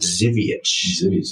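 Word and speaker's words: Żywiec: badge proudly okay that's cool yeah yeah that zivich was that was good I mean it spelled like Zak yeah yeah the spelling was z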